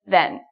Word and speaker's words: then: Okay, so then sounds like Ken. You know Ken and Barbie? Ken. It rhymes with Ken, then.